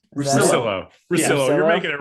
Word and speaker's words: Russillo: Rusciello. Is that it? Russillo. Russillo. You're Russillo? making it real. You're making it real Italian and complicated.